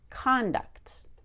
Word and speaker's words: conduct: the co n con it's a different vowel it's a short o my tongue goes to the bottom of my mouth and it's very energetic conduct but when I make